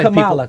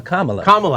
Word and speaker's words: Kamala: Not Kamala. Kamala. People say that name wrong.